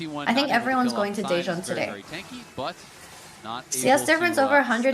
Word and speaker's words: Daejeon: I think everyone's going to Daejeon today.